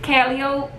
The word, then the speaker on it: Calliope: They pronounce it Calliope, but being from New Orleans, it's Calliope. They're good, Calliope.